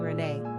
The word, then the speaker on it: Renée: We often hear about how the masculine René is pronounced just like the feminine Renée, and is therefore often mistaken as a girl's name.